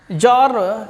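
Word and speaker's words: Tsar: And jar is a means T is silent here.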